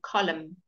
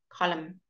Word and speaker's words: column: after me ha ha ha open mouths and column column column good right I could take zebra hey let's